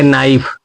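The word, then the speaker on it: knife: तो इसलिए के साइलेंट हो जाएगा। तो इसको पढ़ेंगे नाइफ।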